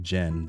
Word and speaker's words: Xen: It's pronounced more like Jen than Zen.